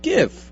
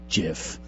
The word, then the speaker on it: GIF: Well, it's a G. It's not a J. Well, no, but more like Jiffy Lube. More than G, it's graphic. It's a hard, it's an initial of a hard G sound, graphic. So it should be GIF.